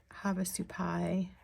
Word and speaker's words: Havasupai: Okay, this is Havasupai let's do pie, emphasis on the last syllable, falls.